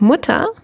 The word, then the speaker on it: Mutter: a lung sound here with muta you actually have a short u sound that is because of the double t and in the plural